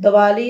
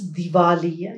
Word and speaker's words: Diwali: are lamps and then you said Dali it's diali you have to work